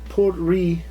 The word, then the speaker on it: Port Ruighe: The name Port Ruighe is pronounced Portry, and refers to the town of Portry, a port and the largest town on the Isle of Skye.